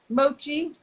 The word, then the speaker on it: Mochi: have a very special interview with alexander and moki the cat i'm not saying it right mochi mochi the cat out of mochi gardens in